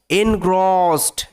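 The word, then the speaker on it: engrossed: gate মানে হয়ে যেতেন কি হয়ে যেতেন সো এনগ্রস্ট এটার উচ্চারণটা হচ্ছে এন গ্রস ইডির থাকলে শব্দের শেষে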